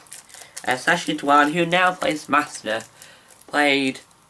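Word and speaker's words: Sacha Dhawan: Uh Sashi Dwan, which I only recently worked how to pronounce his last name. Sashi Dwan, who now plays master, played one of the creators of the show in this.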